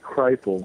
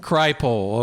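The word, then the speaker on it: Kripal: Well, no, we say Krile. Kryle.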